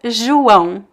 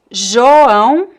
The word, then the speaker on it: João: Oh, I love this word, João. It can be João, João, or João, João. So the first O sound can be pronounced as O or U, and the nasal diphthong is always João.